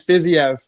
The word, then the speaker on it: Fiziev: No, I'm definitely going to butcher these ones. Moicano and Fiziev.